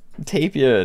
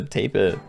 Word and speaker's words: tapir: And he's running a backline Tapir. Tapir. I actually googled that, and apparently people say it like taper. And that really doesn't sound right to me.